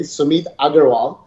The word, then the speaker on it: Sumeet Aggarwal: so let me first say my name correctly sumit agarwal you know yeah there you go you know